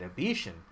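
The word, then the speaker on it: Abecean: connections to become the pirate queen of the Abetian Sea. Oh, that's how you say it, Abetian.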